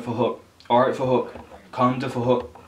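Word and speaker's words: Phuc: His name is Fahook. It's spelled with a PH, so it sounds like Fahook.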